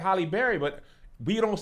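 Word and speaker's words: Halle: The way But Haley that's not spells how it's hers pronounced. here. People always say Haley like Holly Berry, but we don't say Haley Berry.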